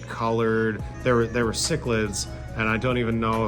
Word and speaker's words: cichlid: I you know I was didn't want to ask anyone and I was like sick chillid or chicklid or you know I didn't I didn't know.